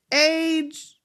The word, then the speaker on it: Aj: It's Age. See, and it's a capital A and a little J, pronounced like Age. Don't worry, I ain't mad, and don't hate me. I'm not hating. I just hate to mispronounce somebody's name. Age. I have to just get it straight. But when I see it as an A and a J, I want to say AJ.